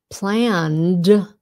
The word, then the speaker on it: planned: Planned sounds like a D, ripped, mocked, and of course our exceptions.